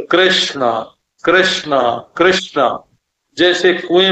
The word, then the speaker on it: कृष्ण: अब देखो आप बोलते हैं कृष्ण। तो क के उच्चारण में आपके कंठ में एक स्पंदन होगा। क का क और ऋ के उच्चारण में आपके सिर में एक स्पंदन होगा माने कृष्ण बोलते समय आप नीचे से ऊपर गए और वहां शणा जो है मूर्धन्य श और ण दोनों मूर्धन्य है तो ऋ ने तो